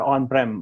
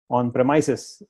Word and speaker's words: on-premises: premises on premises some most of us in the industry use the word on Prem on promise that's wrong this is wrong on promises is the right way to say it and write it so having said yes